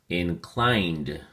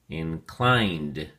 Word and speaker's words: inclined: at your flash card inclined has two syllables and the emphasis or stress is on the second syllable clined and make sure you enunciate that last and final um that final D sound so we say inclined